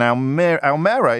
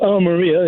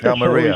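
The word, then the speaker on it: Almería: David is in Almera in Spain. David, what would you like to say? Well, Almeria, if you like. Almeria. How about that show?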